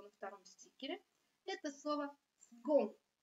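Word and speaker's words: second: Это слово «сгон». Буква «с» здесь произносится как «г». Это не правило, это исключение.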